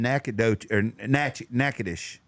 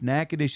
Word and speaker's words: Natchitoches: We ate at a place in Natchitoches.